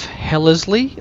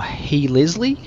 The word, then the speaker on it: Hellesley: So, welcome to the planet of Hellesley, or Helesley, depending on how you want to pronounce it.